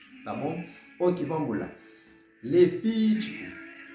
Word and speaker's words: Levítico: Levítico. On va me traîner sur via, parce que c'est pour accent, c'est la tonique là.